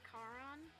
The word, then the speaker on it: Caron: I've been told that his name is pronounced Caron which is correct but I've been saying it Sharon this whole time and I do what